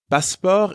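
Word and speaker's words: passeport: you for your passport passport is the French word for passport the pronunciation is almost the same as in English but you don't pronounce the T sound at the end is notice how the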